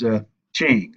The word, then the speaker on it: Qing: That technical name for it is Qing. All right, anytime you see a Q in China is usually pronounced with a CH.